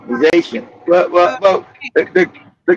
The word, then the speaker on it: Haiti: Oh, he's Shout to Haitian. He's Haitian. uh, The correct pronunciation is right.